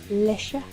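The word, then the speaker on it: le chat: Ironically, chat is French for cat. Lesha. Yeah, it's spelled chat, though, I Yeah.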